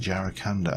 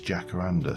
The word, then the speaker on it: jacaranda: I always pronounce it jaracanda and I know it's jacaranda, so it's yeah, if anybody spots that, please shout at me.